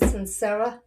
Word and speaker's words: Suncera: My guest today is Sincera Johnson.